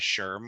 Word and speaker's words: SHRM: likes here so um Sherm is interesting so why don't you tell us you know for those who don't know what sherim is and I'm reading SHRM as Sherm because that's how you say it uh you want